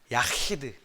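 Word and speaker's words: יחיד: 발음을 어떻게 하냐면 이렇게 말하고 있어요. 야히드.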